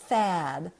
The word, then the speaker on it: THAAD: So it's no and then the word THAAD, THAAD. It rhymes with sad, except it's a TH, THAAD, and it's a double A.